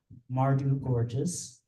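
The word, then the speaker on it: Mawrdew Czgowchwz: best known for his acclaimed 1971 debut novel mardu gorgeous thank you for providing the pronunciation on that uh which is currently available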